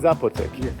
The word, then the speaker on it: Zapotec: It's pronounced Zapotec or Zapotec? Zapotec.